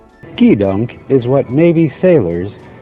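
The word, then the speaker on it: gedunk: drawer was born I screwed up it's actually pronounced the dunk key dunk is what Navy sailors call Candy and other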